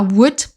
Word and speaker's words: would: Passons maintenant à would. Là aussi, on ne prononce pas le L.